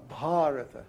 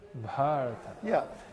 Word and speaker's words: Bharata: No, Bharata. Bharata. Yeah, it's a Long long A.